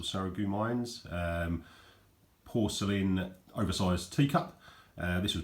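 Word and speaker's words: Sarreguemines: I've also got this quite nice, pronounced Saragumins or Saragumines, porcelain oversized teacup.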